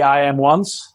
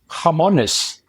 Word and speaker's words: IAMONES: it becomes stickier so sometimes they say I am once which is the typical reading point from an English standpoint or otherwise the Spanish say harmonous like the pruto or the hand so it's just the name that uh you can pronounce it actually the way you want as long as you